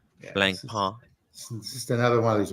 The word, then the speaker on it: Blancpain: no no no n the N at the end is silent it's a silent n blank PA just another one of